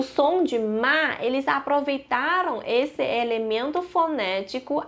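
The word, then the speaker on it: 妈: Então tem radical de mulher e que o ideograma de mãe se pronuncia ma.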